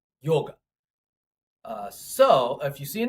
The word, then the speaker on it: yoga: and Cistus they phrase all right so it's pronounced yoga so if you see an Indian person around